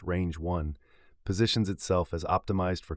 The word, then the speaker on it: RNJ-1: The model, named as an homage to mathematician Ramanujan and pronounced Range 1, positions itself as optimized